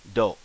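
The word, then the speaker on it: ど: Becomes like doe. So toe becomes doe, a deer, a female deer, or doe as in rolling in dough, bread dough, doe.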